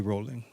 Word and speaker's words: Rowling: They call her Rolling, don't they? Yeah. And that's how it's spelled.